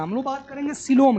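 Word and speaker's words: coelom: नहीं कर रहे हैं, हम लोग बात करेंगे सिलोम की। किसकी बात करेंगे? सिलोम की बात करेंगे, ध्यान दीजिएगा। हाँ COE, सिलोम। देखिएगा स्पेलिंग भी कैसे है इसका।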